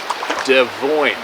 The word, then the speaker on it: Devoyne: Devoyne. My last name is pronounced like Des Moines.